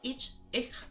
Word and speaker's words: ich: Especially with the word ich, it's not pronounced as harshly as some people say ich, like ick. No. Um, in Duolingo, they pronounce it kind of like ish.